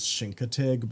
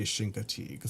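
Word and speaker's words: Chincoteague: Now, I think the actual pronunciation is shinkatig, but people always say shinkig, so I don't know what the truth is.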